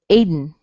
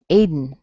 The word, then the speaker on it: Aiden: And if I did this with Aiden, I would actually say Aid, Aid, and then N. Aiden, Aiden. Okay, so you might hear that as well.